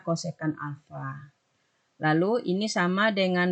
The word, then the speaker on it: kosekan: lalu ditanya ini nah penulisan kosekan itu tergantung buku ada yang menulis kosek ada yang menulis CSC ya tapi kita bacanya kosekan saja supaya aman kita tetap bacanya kosekan Alfa lalu ini sama